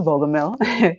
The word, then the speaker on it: Bogumil: That is how it's pronounced, Bogumil, with Capital Fundings.